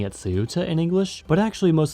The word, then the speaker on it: Ceuta: the 8th century AD, this became Ceuta in Arabic, or Ceuta in Amazigh or Berber, and then became Ceuta in Portuguese, and is now of course pronounced as Ceuta by its Spanish inhabitants.